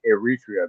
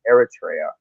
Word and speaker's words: Eritrea: EB bonify it by calling erria but it's Eritrea you know wrong emphasis on the wrong vow and